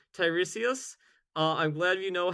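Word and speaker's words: Tiresias: of pure vanilla cookies Also, yes, you said Tyresius. Uh, I'm glad you know how to pronounce his name now.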